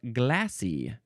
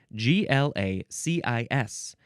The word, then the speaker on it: glacis: We have the word glacis or glassy. Glacis or glassy, but here's the thing, I have to spell it. g l a c i s You don't pronounce the s.